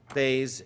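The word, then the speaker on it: בית: Beis is never z. There's never a Zion sound. We pronounce it Beis, but it's Beis Yud Tuf.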